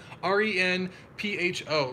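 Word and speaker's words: Renpho: this off Ren fo how do you say that re n ph o Ren pho I'm pretty sure that's how you say it so we have a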